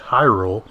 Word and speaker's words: Hyrule: Hyrule, Hyrule ends in E. Hylia and Hylian do not. So by default, the vowels would be pronounced differently.